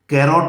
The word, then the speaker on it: carrot: एसएससी में जो sentence दिया था वह था द कैरेट। ध्यान दें, इसका प्रोनाउंसिएशन कैरोट नहीं बनेगा, दिस इज कैरेट।